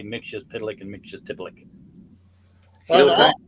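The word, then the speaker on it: Mxyzptlk: Basically, they switched the T and the P around. Yeah, that's that. Mixius Pitalik is the one that more people know, but yeah, it was definitely Mixius Tipalik in the Golden Age.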